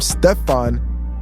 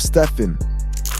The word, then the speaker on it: Stephen: They mispronounced his name, calling him Stefan instead of Stephen.